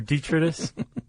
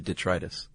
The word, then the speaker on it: detritus: eat cell detrius or dietitis. Actually I listen to the pronunciation. It's actually detritus.